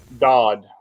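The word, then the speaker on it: Doud: Dodd. Sorry. I don't M.G. even- Dodd. Okay. Dodd. It's D-O-U-D. D-O-U-D. My redneck pronounces it different than what it is. But I know it's Dodd for a fact.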